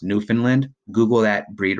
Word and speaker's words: Newfoundland: a Newfoundland a Newfoundland it looks like Newfoundland it's pronounced Newfoundland Google that breed right